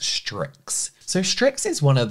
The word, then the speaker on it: Stryx: gonna piss me off I believe the brand is pronounced strix so strix is one